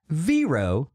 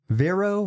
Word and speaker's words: Vero: screenshot of them adding veero vero vero however you say it I pronounce it vero and they're all banned